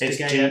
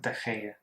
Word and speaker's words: De Gea: I thought you pronounced it G, so it's De Gea. G-E-A, but it's De Gea.